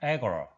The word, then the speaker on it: agora: 근데 실제 영어 발음은 agor입니다. agora. 선생님 빨간색으로 액센트 해놨죠.